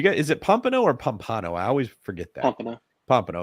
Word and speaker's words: Pompano: Beach do you get is it Pompano or Pompano I always forget that Pompano okay I said